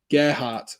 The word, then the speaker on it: Gelhardt: Gary saying Gelhardt, remember that name. Exactly. He's gone and got himself a goal today. Gerhardt. Sorry. That's how you pronounce it.